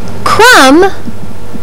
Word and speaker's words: crumb: Babble believe and crib this letter is silent in words like lamb crumb and D this sound